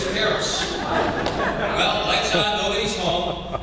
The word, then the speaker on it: Beres: And so my last name is Hungarian. It should be pronounced Beres. Americanized it as Beres. But he insisted on it being Beres.